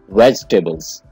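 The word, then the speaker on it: vegetables: इसकी सही प्रोनाउंसिएशन है वेजिटेबल्स, वेजिटेबल्स। इसके आप दो पार्ट कर लें, वेज और टेबल। वेजिटेबल, आपने वेजी नहीं कहना है, वेजिटेबल।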